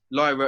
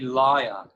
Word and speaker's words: lyre: It's actually lyre. It's not lyra.